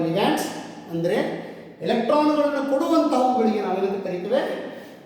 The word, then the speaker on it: ligand: The central metal atom or ion surrounded by the electron donor atoms, they are called ligands. ಅಂದರೆ ಎಲೆಕ್ಟ್ರಾನ್ಗಳನ್ನು ಕೊಡುವಂತಹವುಗಳಿಗೆ ನಾವೇನಂತ ಕರೀತೇವೆ? ligands. We pronounce ligand, not legend.